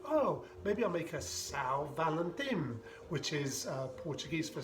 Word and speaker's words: São: I thought, oh, maybe I'll make a São Valentim, which is Portuguese for Saint Valentine, and obviously referencing the Portuguese port that's in it. But also I thought São kind of sounds like the word sour, and I really like whiskey